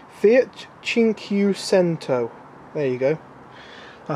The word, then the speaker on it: Fiat: Fiat 500.